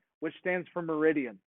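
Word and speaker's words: meridiem: I, which stands for minutes, space A, which stands for meridian, which is your AM, PM. Or meridium, I think it actually is pronounced.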